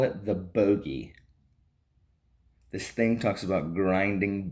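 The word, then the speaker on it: Bogge: We call it the bogey. This thing talks about grinding bones and sucking marrow, and they call it the bogey. B-O-G-G-E. And the pronunciation guide in the back says it's pronounced bogey.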